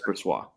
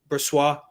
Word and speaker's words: Brossoit: Did I say it right there? You had it there. It's Brossoit. Brossoit.